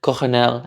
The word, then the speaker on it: colonel: Now, why do we spell colonel with an L in the middle of the word, even though nobody pronounces that way, American, British, or otherwise? It came into English from French, where it was already with an R sound, colonel, and originally it was spelled with an R.